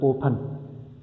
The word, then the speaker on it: open: I don't say open. I say what? Open. The stress is on O. That's why when I want to add ing, opening, I will not double the N. Why? Because the stress is on O, on the first syllable, not on the last syllable.